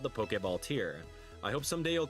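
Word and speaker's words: Poké Ball: Out of the beginner tier and into the Pokeball tier. Two words, accent on the E. in case you didn't know.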